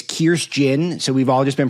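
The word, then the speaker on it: Kirstjen: First of all you you pronounce the J. So it's Kirst Jin.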